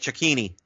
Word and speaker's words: Cecchini: Cecchini. Cecchini. Cecchini. Okay, Don't make fun. Hey, you better not pronounce those Italian names right.